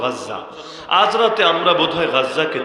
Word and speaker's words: গাজ্জা: আজ রাতে মনে হয় আমরা গাজ্জা, বাংলায় বলে গাজা, মূল উচ্চারণ গাজ্জা, আজ রাতে আমরা বোধহয় গাজ্জাকে চিরতরে হারিয়ে ফেলতে যাচ্ছি।